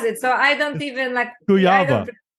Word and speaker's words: Kujawa: So I don't even Kujawa. Kujawa, because Good. It is, it's different language, spells differently.